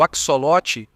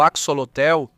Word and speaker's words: axolote: O axolote ou axolotel, como muitos tentam pronunciar, ambistoma mexicano, é uma